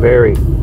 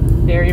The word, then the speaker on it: Barre: all right guys going to Hope Cemetery in Berry Berry Vermont yeah b a r r e that's how you pronounce it Berry oh excuse me when the best salad yeah